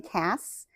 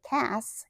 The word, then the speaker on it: Cass: she could not say Cass and she could not say Cassie she could not pronounce that hard C so she called me